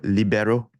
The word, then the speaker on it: libero: It's a E sound, right? Yeah. Yep. Yep. So libero.